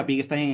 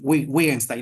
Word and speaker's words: Wittgenstein: Por ejemplo, en efecto, Wittgenstein, por ejemplo, se pronuncia Wittgenstein en alemán, pero en español, en realidad, por ejemplo, no estaría incorrecto, no es incorrecto decir Wittgenstein, ¿no?